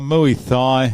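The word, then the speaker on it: Muay Thai: have I done uh mu Tha or mu thigh as the locals pronounce it Grand PRI here we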